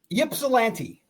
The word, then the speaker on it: Ypsilanti: You know how to pronounce the name where they play? Ypsilanti.